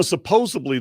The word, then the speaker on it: supposedly: is supposedly, you know, supposedly that no, it's not a B with a like in boy, it's a D as in David.